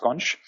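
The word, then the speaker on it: xonsh: an empire yeah yeah there's the experts pronounced conch and I know and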